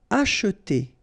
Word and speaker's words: acheter: Acheter quelque chose sur le marché. Okay? And then remember that in many cases we won't pronounce this here, so it will go like acheter. Okay?